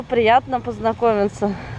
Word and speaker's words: приятно познакомиться: Итак, сегодня мы учимся произносить фразу «приятно познакомиться».